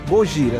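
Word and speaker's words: ゴジラ: E eu fiz um pouco aí um apanhado aí, que o nome Godzilla, originalmente, ele é pronunciado como Gojira, né? Que é uma combinação das palavras japonesas de gorila e baleia, enfim.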